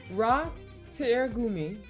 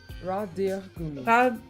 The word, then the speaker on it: Radiergummi: Ratiergummi. You can the DIER you can Deer. speak like deer, like the animal deer. Radiergummi.